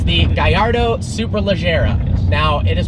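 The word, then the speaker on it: Superleggera: is not Gallardo and it is super leera not super Leger one of my favorite comments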